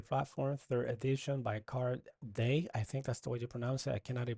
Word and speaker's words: Dea: So, it could be DEA, but it sounds to me like day is probably the right pronunciation.